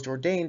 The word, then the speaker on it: Jourdain: charles jordan trains out of academy pro star mma and that is indeed how it is spelled i double checked on espn and tapology marcelo trains out of